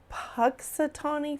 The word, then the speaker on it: Punxsutawney: I say his name wrong all the time. It's Punxsutawney Phil.